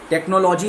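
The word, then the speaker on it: technology: हैं टेक्नोलॉजी, टेक्नोलॉजी, टेक्नोलॉजी इज़ नॉट the right pronunciation, it's टेक्नोलॉजी। तो LOGY के पहले जो सिलेबल है उसमें आपका स्ट्रेस होगा। तो सिलेबल क्या आता है, टेक्नोलॉजी, NO, LOGY के पहले NO है, सो इट बिकम्स टेक्नोलॉजी।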